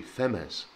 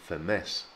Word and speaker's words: Femés: And the key thing here is that the accent is on the second syllable. So if the accent wasn't there, it would be Femés. But the accent is there, so it becomes Femés, Femés.